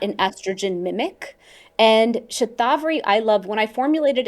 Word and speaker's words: shatavari: And then shatavari, as you pronounce it shatavari, is how you pronounce it in the west, for menopause and hormone resilience.